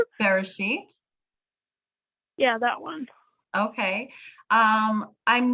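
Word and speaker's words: בראשית: I'm sorry, I probably pronounced that wrong. Bereshit.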